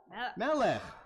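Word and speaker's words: מלך: How do you say king in Hebrew? Melech. So you'll hear Melech, and Mordechai is Mordechai, Ahasuerus is Achashverosh, Esther is Esther.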